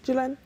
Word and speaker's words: Jhulan: and former West Indies player, as well as Jhulan, is it? How do I pronounce? Yeah, Jhulan.